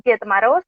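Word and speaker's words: Дед Мороз: no, pero porque en la transliteración creo que han metido una T de más, que por algún motivo fonético estará allí, pero que dificulta que se pronuncie. Son Yetmaros y Snigurechka.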